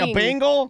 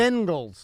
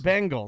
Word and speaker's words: Bengals: Now you said it, but you were saying a bingle. You were saying Bing like the search like the search engine. It's a Google. It's Bengals. Bengals.